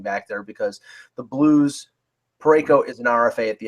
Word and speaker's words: Parayko: And Parenko is what he's done is crazy, right? I would say his name properly. As I'm saying, Colton Parayko. Yeah. Parayko.